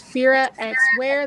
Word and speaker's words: Fira X Wear: But if you want to find it by itself, it's Fira X Wear. The X is silent.